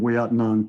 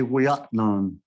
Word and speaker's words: Ouiatenon: English spelling is with an E, and I think people say Ouiatenon. The Miami is Ouiatenon, means at the whirlpool person.